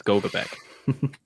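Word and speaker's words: Gogebic: where's our yers at the name looks French to me so it's goabc all right we got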